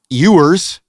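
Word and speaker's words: Ewers: Here's a new little card we can show you of Quinn Eers.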